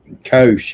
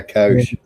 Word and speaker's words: Koch: Yeah, it's spelled C O C. It's not spelled like coke. It's co o c h or something. K. Yeah, kosh. Yeah, kosh.